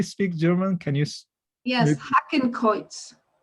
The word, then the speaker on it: Hakenkreuz: So I don't know how you pronounce. Does anybody speak German? Can you? Yes, Hakenkreuz. Hakenkreuz.